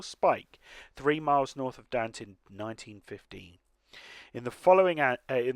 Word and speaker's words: Dante: the ccno had reached dante rhymes with ant oh dant then okay i thought it was dante but yes must be